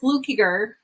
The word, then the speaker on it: Fluckiger: amazing enlightening conversation with my new friend Fluker and I hope that I said that correctly because I people get my name wrong all the time so flukiger yes that was perfect yay all right so